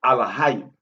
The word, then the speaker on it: Elohim: So when we pronounce it, we pronounce it with the A-L-E on the front of it, which is Alahayim, right?